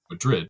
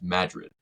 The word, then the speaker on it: Madrid: We have a Madrid, Alabama, but it's spelled just like Madrid. But don't call it Madrid because the people there will come after you. It's Madrid.